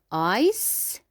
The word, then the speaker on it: ice: Here we have ice. ice. We will not pronounce E. ice.